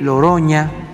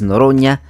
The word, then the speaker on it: Noroña: querido presidente López Obrador sabe muy bien el nombre de nuestro diputado Fernández Noroña Noroña pero le dice loroña de cariño él nunca sería mal